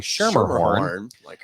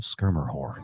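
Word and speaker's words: Schermerhorn: the skir horn um I realized I was pronouncing it wrong for years until I heard the announcement I was saying shermerhorn they were like ladies and gentlemen of skir horn like what which is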